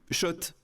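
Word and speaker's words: Schott: Oui, Shot et pas Scott. Ça fait des années qu'on prononce mal la marque.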